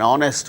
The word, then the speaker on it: honest: the words hour an hour an honor an honest man an heir an honorable man in all